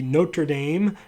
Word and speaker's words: Notre Dame: So recently, the Notre Dame, that's how you say it, cathedral burned, and I found out about it by looking at Facebook.